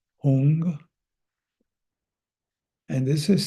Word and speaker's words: hung: a Tibetan sacred syllable hung I like to visualize it is h o o n g hung and this is is